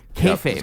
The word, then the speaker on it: kayfabe: Like kayfabe. Is it kayfabe? Is that how you pronounce it? Kayfabe? Kayfabe. Kayfabe. Yep.